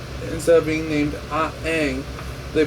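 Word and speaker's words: Aang: the main character instead of being named a Ang they pronounce the name Ang just molet over in your mind for a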